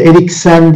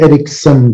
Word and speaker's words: Eriksen: O da Eriksen değil, Eriksen diye okunuyor Danimarkacı'da. Bütün spikerlere görüyor.